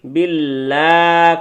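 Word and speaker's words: بِاللّٰهِ: বিল্লাহি বিল্লাহি বিল্লাহ খুইলা দেন ফাতহাটা খুলে দেন মানে জবরটা খুইলা দেন বিল্লাহি বিল্লাহি হ্যা বলেন আউজুবিল্লাহি মিনাশ শাইতানির রাজীম রটাকে ধরতে হবে।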